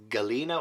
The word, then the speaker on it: Galina: the wicked books so I wanted to call her galinda but no she is Galina or Galina I was